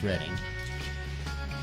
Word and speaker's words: Reading: the Reading Railroad, or Reading Railroad, but it's pronounced Reading, which had 2 of these, and then the Seaboard Coastline, which had 3 of these, which were the ex-TYCo demonstrators.